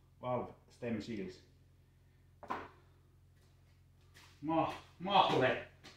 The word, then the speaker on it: Mahle: Mahle. I don't know how to pronounce it in English, but in Finnish it is mahle.